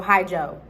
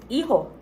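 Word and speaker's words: hijo: son and daughter um it's spelled h i j o but you don't say it like Keyhole or he ha or hi-ho Ohio yeah or hi Joe hi Joe it's iho all right now okay do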